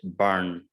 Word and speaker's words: burn: Okay, so like this one, you can see it is burn. See, again, R is before a consonant, so we don't pronounce it. It's R sound, schwa, burn. We would never pronounce R in the British accent. We will not say burn. If you pronounce R, you will sound like an American speaker.